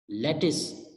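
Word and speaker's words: lettuce: Then another word is जो कि mispronounce किया जाता है लेट्यूस. बेसिकली इसको हम प्रोनाउंस करेंगे, पढ़ेंगे लेटिस, लेटिस. तो ये 5 वर्ड्स बने, breakfast, pizza, vegetable, cucumber, लेटिस.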